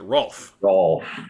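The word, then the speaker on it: Rowlf: didn't quite get in in a puppet accent they would they pronounce it rolf yes oh okay that's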